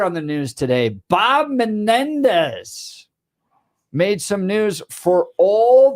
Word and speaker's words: Menendez: for him and he Ted didn't know how to pronounce his name so he goes Bob menz and it just s it sounds like a little motorcycle Menendez so Bob Menendez Democrat